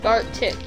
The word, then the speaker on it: Gartic: Yeah, I didn't know how to pronounce it. I still know. Gartic, right? Gartic, yes.